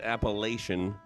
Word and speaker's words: Appalachian: And yes, I do pronounce it Appalachian, because I'm from Minnesota, and that's how we pronounce it here in Minnesota.